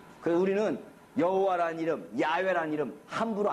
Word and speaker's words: 야훼: 있는 사마리아 오경을 보니까 이걸 읽기를 어떻게 읽어요? 야훼라고 읽더라. 그러면 여호와라고 읽는 게 맞겠어요? 이렇게 읽는 게 맞겠어요? 아무리 쌍놈이지만 자기 아버지 이름은 제대로 불렀을 거란 말이에요. 그래서 야훼라는 말이 여호와라는 말보다 학계에서는 더 하나님 이름에 가까운 이름으로 쓰이는 거죠.